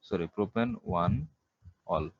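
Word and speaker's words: propan-1-ol: এটা হচ্ছে প্রোপেন 2, প্রোপেন 1 অল। তাহলে এখানে ইয়েটা বাদ যাবে, তাহলে উচ্চারণটা হবে প্রোপান 1 অল।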